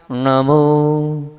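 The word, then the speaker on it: णमो: देखें आप नमो अरहंत मैंने जीभ से मा निकाला है होठ से नहीं निकाला है नमो सिद्धानम ये जो नाक से जो है ना कहां से नाक से तो निकला लेकिन जीभ को पीछे करके णा का उच्चारण किया है नमो आजन नमो भया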